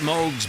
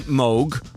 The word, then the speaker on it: Moog: Uh, in Germany, it's a fairly common name and there it's pronounced Moog. In Great Britain and English-speaking countries, uh, people see the double O and they say moog.